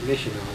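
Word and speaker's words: Myitkyina: And then we'd go to a place like Missional, which isn't spelled like Missional at all, and Bamo, and Bamo's in Burma.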